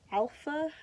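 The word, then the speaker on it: Alfa: and it's by uh alpha i think is how you're supposed to pronounce that it's a-l-f-a but it looks like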